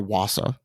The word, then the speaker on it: Vasa: they certainly learned from the Vasa or Wasa I think is how they pronounce it but yeah cuz